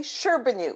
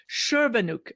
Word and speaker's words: Scherbanuik: we talked several times it's very simple just just phonetically sherbanoo k-- sherbanoo okay I was today